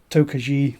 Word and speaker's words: Tokaji: color and non-shield filtered so toki or tokuji as a lot of people pronounce it is a sweet white